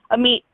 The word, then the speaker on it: Amit: It's pronounced just like you hear it, like nice to meet you.